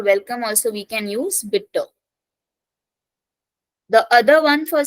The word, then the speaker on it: bitte: the first one is bitter yeah bit again e is taking a pronunciation bit we can't say B that sounds very awkward so bit B bitter